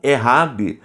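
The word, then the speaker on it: אחד: Pronunciado na língua hebraica como errad, porque o único de unidade absoluta é o Yahid.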